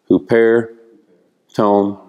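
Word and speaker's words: ὑπὲρ τὸν: That's a rough breathing. It's like it has a H in front of it, yeah. Huperton.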